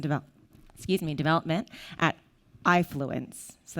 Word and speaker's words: AIfluence: excuse me development at ifluence so that's how we pronounce it like your eye i fluence um and basically this